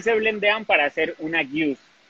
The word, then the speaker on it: Gueuze: aprender cómo a distinguir, no se dice ni Gose, ni la Gueuze dice Gouza, sino la Gueuze es Gueuze y la Gose es Gouza.